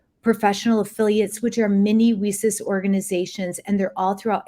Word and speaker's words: WiCyS: We often go by our acronym, and we spell that WiCyS and pronounce it WiCyS, like we sisters, because that's exactly what we are.